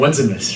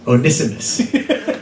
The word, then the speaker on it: Onesimus: But last week I kept saying Onesimus, right? It's actually Onesimus. So I want you guys to be informed. That is the correct pronunciation.